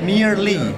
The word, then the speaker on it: merely: Mere ya, merely, mere ketemu li ya, merely, bukan mere ya, merely, no, merely.